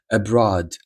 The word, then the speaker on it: abroad: Здавалось би, там слово дорога road, але abroad. Abroad. Зміна та або міняти. Change. Ні. Change. Chі. Change це правильна вимова.